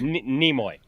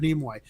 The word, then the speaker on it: Nimoy: call him namoy leonard is that how he pronounces his name leonard nimoy nemoy nimoy nimoy okay so leonard nimoy i'm sorry i've just never heard him called nemoy that that sounded like a